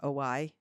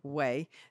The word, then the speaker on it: OUAI: And you know how a lot of the shampoos, well, the one we use, OY, is that how you say it? I think it's Way. Oh, okay. Way. It's spelled OUAI.